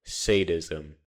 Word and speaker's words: sadism: Sadism. It rhymes with Satanism.